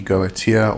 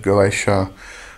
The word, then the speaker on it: Goetia: um when you are referring to the gotia or the goaa however you would like prefer to pronounce it as I said I I like to just pronounce It Go IA for specifically for those